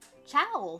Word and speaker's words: ciao: It's a take on, obviously, ciao from Italian, but I replace it. I mean, I pronounce it like the dogs, chow chows, because that's what I end up thinking about.